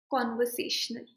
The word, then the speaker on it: conversational: So say it out loud, conversational. Conversational. Say it out loud 2-3 times. And you can notice that con and se, ye dono syllables are standing out more compared to the rest of the syllables.